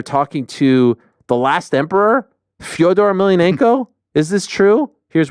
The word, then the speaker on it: Fyodor: Fyodor, pronounced Fyodor, in BKFC.